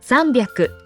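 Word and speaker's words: 三百: the nine even 100s there are three that you pronounce differently three hundred is zambiaku instead of 600 is instead 800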